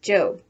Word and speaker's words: Job: going off to her job which in the Bible is pronounced job remember that the one